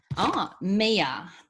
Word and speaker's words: Mia: Mia. Okay. That's how we pronounce Mia, M-I-A.